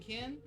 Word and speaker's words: Ken: Do you play with Ken or do you play with Ryu?"